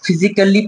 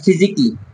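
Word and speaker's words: physically: হয়তো এটাকে অনেকজন ফিজিক্যালি পড়ে, বাট ফিজিকলি, ফিজিকলি।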